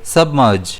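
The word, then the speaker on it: submerge: इसे हम प्रोनाउंस करेंगे सबमर्ज। जिसमें स्ट्रेस जो है वो एम पर रहेगा।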